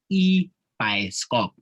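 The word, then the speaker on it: ibhayisikobho: a movie in my native language it's called e by scope so that's how you pronounce it yes uh so it actually means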